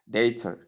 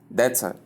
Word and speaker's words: data: Now, the word is pronounced as dater. Dater. You can see the A sound. A sound is a diphthong, and then the silent A sound, which we call the sure sound at the ending. So that is how you pronounce it. And in the second pronunciation, dater. Dater. That is The short or sound, the short R sound and the schwa sound at the ending, both are acceptable.